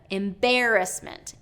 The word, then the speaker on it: embarrassment: a couple more embarrassment not embarrassment not embarrassment but embarrassment embarrassment so second syllable stress not third syllable and then fabulous okay